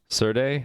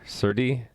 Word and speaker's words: Serde: to make your own surday certi whatever it's called yeah i'm thinking it should be called sir d because you say serialization so seer actually it should be c or d serialization d serialization d c or d that makes the most sense to me if sardi is seer